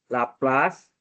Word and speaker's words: Laplace: Ini namanya laplas bukan persamaan Laplas ya lain.